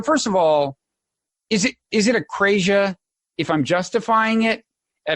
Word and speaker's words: akrasia: So the word akrasia. It's akrasia. You can say it either way. Akrasia is how you say it in Greek.